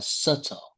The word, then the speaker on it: subtle: We say like a subtle subtle subtle. Subtle. Subtle. Subtle. Once again subtle. Subtle. Subtle. Um, okay. The letter B is omitted and not pronounced.